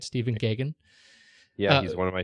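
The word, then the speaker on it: Gaghan: as the holder of all things, of all pronunciations, his name is Stephen Gagan, I believe. G-A-G-H-A-N, yeah. Right? Stephen Gagan.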